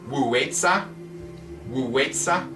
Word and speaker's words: Wei Zi: want to ask for Wei Zi. It's said W-U, or it's spelled W-U, W-E-I, I think Z-I, Wei Zi.